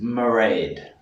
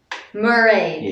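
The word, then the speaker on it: Mairéad: This name is Mairead. Mairead. Yeah, which if you really pronounce it right, it's actually Mairead, but just saying it quickly, it's Mairead.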